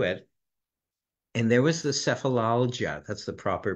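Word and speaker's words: Sefalaljia: to thumb through it and there was the sephilia that's the proper pronunciation sephilia which essentially means headache I think it's Latin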